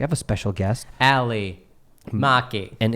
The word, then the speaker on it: Maki: Ali Maki. And it's pronounced Maki because, as you guys will see or hear in a second, she corrects me.